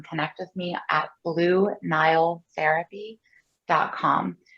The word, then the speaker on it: Nyle: reason you can connect with me at blue nile therapy dot com it's spelled n-y-l-e like my name so blue nile